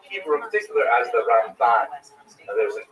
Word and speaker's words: Ramban: first syllable, Rambam, and Ramban is pronounced with the second syllable, Rambam and Ramban.